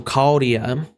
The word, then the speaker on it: Chaldea: The CH is like a K, so Chaldea.